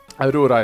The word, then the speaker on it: Aura: Aura is how you pronounce it in Norwegian. It's actually a Norwegian name.